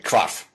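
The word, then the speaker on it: hvarf: Well, actually, it's already gone to standard English, but WH is pronounced with a kv sound. Funny up there. Well, that's a preservation actually of Old Norse, because the H, W, H, V combination is pronounced kv.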